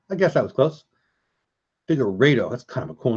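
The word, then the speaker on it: Figueiredo: Figueredo. That's how you say it. Okay. I guess that was close. Figueredo.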